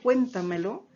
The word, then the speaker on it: cuéntamelo: luego nosotros si analizamos la palabra cuéntamelo donde estaría su sílaba tónica cierto la encontramos en la antes de la antepenúltima sílaba por lo tanto si está en esa posición ubicación la sílaba tónica vamos a estar frente a una palabra sobre esdrújula y recordemos también que